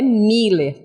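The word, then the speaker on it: Müller: E a pronúncia dessa palavra é Miller, tá?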